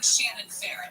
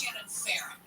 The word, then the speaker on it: Shannon Farron: You're saying Shannon Farron. It's Shannon Farron. You're saying Shannon Farron, KFI News.